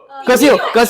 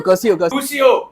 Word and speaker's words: Crucio: Curcio. Stupefy. Curcio. Crucio. Oh, Crucio. Same ही है ना? Crucio. Oh my god. I thought it's Curcio.